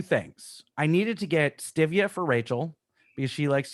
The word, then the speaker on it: stevia: It's STIVIA now, stevia. Stevia. Whatever. It's the hippie shit. You put the emphasis on the wrong syllable, Scott.